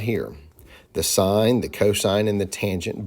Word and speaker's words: sine: you to understand the sign ratio and that's how we pronounce that even though on the calculator it's spelled s i n they leave off the E this is called the